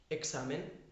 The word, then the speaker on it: examen: La X la podéis pronunciar como KS. Un ejemplo, examen.